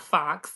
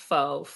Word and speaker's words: Faux: And for anybody, it's spelled Faux, Faux Real Beauty, not Fox. It's pronounced Faux.